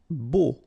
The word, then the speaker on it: beau: Beau. Okay, so remember we've got this strange combination of vowels. A, U, so 3 vowels, but then phonetically it's only O.